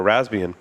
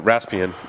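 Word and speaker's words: Raspbian: the security update for rasbian uh raspian and rasbian Ras rasbian ran whatever thank you I say the P so I remember to type it because I I I spell it wrong yes um but they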